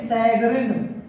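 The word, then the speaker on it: chagrin: इसको पढ़ते हैं सैगरिन, सैगरिन, सैगरिन को झुंझलाहट कहते हैं, खींचना, चिढ़ जाना। तो सैगरिन यहाँ CH को स पढ़ा जा रहा है, इसलिए ये एक फ्रांसीसी वर्ड है।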